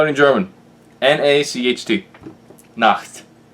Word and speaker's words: Nacht: The same way you spell it in German. N-A-C-H-T.